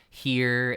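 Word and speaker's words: hir: letter Z like z-e-e and h-i-r is pronounced like here and h-i-r-s is similar but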